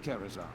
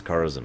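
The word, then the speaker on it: Karazhan: Just above Kerazhan. Please join me here. They pronounce Carazen really weird. Yep. Kerazan. I've never heard anyone say it that way.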